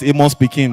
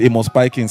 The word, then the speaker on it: Amos Pikins: Nigeria will call it Amos Pekin, but the pronunciation is Amos Pikins.